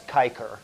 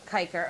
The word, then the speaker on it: cicer: Cicer, which would, in real Latin pronunciation, that's kiker. Kiker, okay.